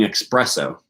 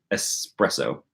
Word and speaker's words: espresso: I didn't start by chugging expresso espresso how do you say that word language channel language folk I need your phonology information is it expresso I think it's espresso you don't start by